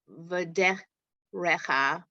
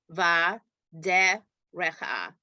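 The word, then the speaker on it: בַדֶּרֶךְ: Vashiv Tacha Bave Techa Uv Lech Techa Vaderecha No. Look at it carefully. Vaderecha I don't see an ah. I see a silent vowel.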